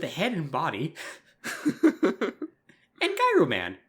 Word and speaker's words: Gyro Man: head and body and gyro man who's pronounced hero man in some other parts of the world all right sure you'll